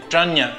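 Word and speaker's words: Prajñā: sutra, ela significa sabedoria e ela tem a pronúncia de Prania.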